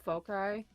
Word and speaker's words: foci: I have like these animal foci. Yes, that's the right way to say that. Focus eye.